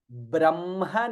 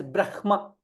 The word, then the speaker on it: ब्रह्म: Some people chant this as Brahma. Some people also chant this as Brahma, depending on which how you would have learned from your guru, etc.